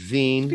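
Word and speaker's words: Wien: got cologne we've got kern it's not what's pronounced in germany and then we got rapid veen i feel like when you say i feel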